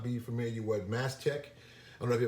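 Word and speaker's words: Mastech: i'm not mistaken but it's spelled m-a-s-t-e-c-h mass tech and it reminds me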